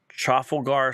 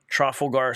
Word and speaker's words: Trafalgar: I've actually got it right here it's at chaar Square am I pronouncing it right trelar Square TR R AF a l g a